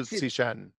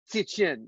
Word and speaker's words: Cixin: Oh, Liu Cixin. Cixin, right. It's the TS in the front and the Cixin, right?